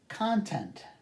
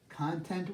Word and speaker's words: content: I contested the issue content content would be subject matter but content meaning satisfied slightly different pronunciation different emphasis on the syllables different meaning produce to